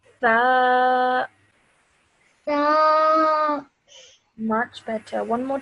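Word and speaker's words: ث: Over here, this one again, you have to say it with your tip of your tongue between your teeth. So you say tha.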